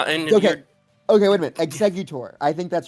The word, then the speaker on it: Exeggutor: Exeggutor. I think that's wrong. I think it's uh exeutor. Executor. Exeutor. Exe. Exeutor. It's literally exe, right? Exeutor. It's not E G.